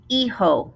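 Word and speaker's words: hijo: okay first son el iho remember do not say the h el iho a daughter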